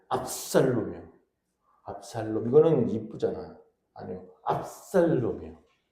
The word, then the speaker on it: 압살롬: 발음을 잘해야 돼. 압살롬이요.